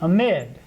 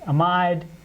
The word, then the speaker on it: amide: instead of an oxygen this is an amide sometimes pronounced amid sometimes pronounced amide i like amid but